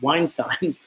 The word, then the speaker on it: Weinstein: We're not Einsteins and we're not Weinsteins, but we're it's very rare. And I just realized that's like a very close last name. Yeah, that's how I remember how to say it. Just add a W.